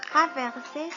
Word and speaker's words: traverser: Le verbe traverser se prononce T-R-A, traverser.